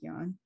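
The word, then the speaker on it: jnana: yon i've seen it i saw it pronounced as gyan and gyan you but mostly young and so it translates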